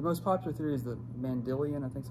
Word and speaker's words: Mandylion: The most popular theory is the Mandylion, I think is how you pronounce it. I'm not certain. It's Mandylion.